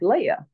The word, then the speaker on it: Leah: and I did and he said it's pronounced Leia so I'm gonna go with the man of God he said that's how you pronounce my name is Leia and I argue with